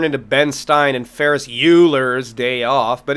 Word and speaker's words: Euler: Ben Stein and Ferris Euler's they off but his name is Euler Leonard Euler not yet Leonard Euler Euler where the do you get this pronunciation ah